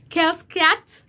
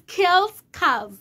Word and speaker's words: Kellz Kaz: I pronounce Kellz Kaz, Kellz Kaz, Kellz Kaz, Kellz Kaz. So it is Kellz Kaz.